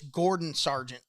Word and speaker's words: Gordon Sargent: It's Gordon Sargent. Gordo Sargent. There you go. See, I would listen. Close. Almost got it. Close. Almost just got the first name wrong.